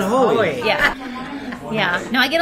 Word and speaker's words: Hoey: And my name is Hoey, like joy. Joy, but Hoey. Yeah. Yeah. No, I get a lot of hooeys. You get a lot of hooeys out the Hoey.